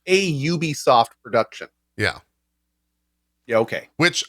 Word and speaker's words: Ubisoft: y o u yeah it's so it's a ub soft production yeah yeah okay which i think this